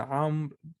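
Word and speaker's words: عمرو: them for the armed they will put a wall and you don't pronounce this well make sense every time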